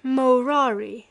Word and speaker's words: morari: For he used to say by way of jest that he had ceased morari amongst men pronouncing the first syllable long and treated as null many of his decrees and ordinances as made by a doting old blockhead.